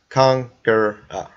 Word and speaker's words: Kangra: And that's Kangra, just in case if any of you guys want to try and mispronounce it. Spelled the way it sounds.